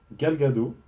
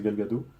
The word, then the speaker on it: Gadot: pas d'accord, pour moi, Gal Gadot, je pense que ça se prononce comme ça, ou Gal Gadot, je crois que le T se prononce pas, je crois que c'est Gal Gadot, pour moi, meilleur que Scarlett Johansson.